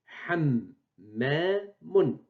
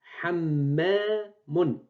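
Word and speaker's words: حَمَّامٌ: ou bien le nom, hammamun. Hammamun. J'ai prononcé double. Donc, on écrit hammamun. Hammamun. Donc, main, on l'écrit une seule fois. On lui ajoute shed pour dire qu'elle est accentuée. Elle est prononcée double.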